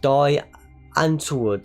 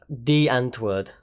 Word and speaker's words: Die Antwoord: your London Ninja of Die Antwoord theme I think that's how you pronounce it who we'll touch on in a bit and my bad it's D Antwoord I just looked it up yeah they just use